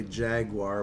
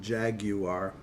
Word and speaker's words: jaguar: so happens I um a family friend whom I met about 20 years ago was British and became very perturbed whenever they heard the American pronunciation of the word and would School everyone around them to pronounce it Jaguar so basically I pronounce it Jaguar if I remember to otherwise I revert to my ignorant American pronunciation and say jaguar the British instead of